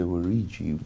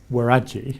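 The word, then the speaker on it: Waragi: Yeah, so I think the pronunciation is Waraji, but I might be wrong. Waraji.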